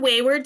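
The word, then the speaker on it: Weyward: in such a funny way so it's called Wayward spirit and it's spelled w e y w a r d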